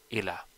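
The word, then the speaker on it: إلى: So whenever you see a word with tashdid, you would pronounce it as illa, and whenever you see this small ya attached to it, you would pronounce it as ila. So you can see this is illa and this is ila.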